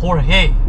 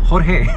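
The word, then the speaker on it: Jorge: Hor-hey! Yea, so their names are badly butchered here, to an extent that they say, "Please call me George". And it's because the right pronunciation is Hor-hey.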